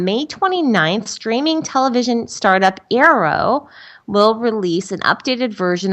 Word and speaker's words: Aereo: Starting on May 29th, streaming television startup Arrow will release an updated version of its Android app that includes support for streaming live broadcast television shows to your Chromecast.